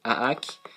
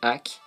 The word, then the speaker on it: Hack: Certains vont le prononcer Aak. Mais moi, je dis Hack.